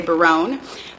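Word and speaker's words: Berowne: i'm looking at biroon it's pronounced varun most of the time some people like to say barone but i'm looking at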